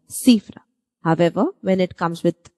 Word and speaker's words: cifra: When C, the alphabet C is before E and I, it has the soft C sound.